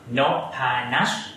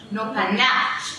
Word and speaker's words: Noppharnach: The right name Noppharnach. Noppharnach.